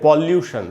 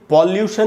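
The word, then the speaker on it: pollution: वैसे ही पॉल्यूशन नहीं पढ़ेंगे, हम इसको पढ़ेंगे पोल्यूशन।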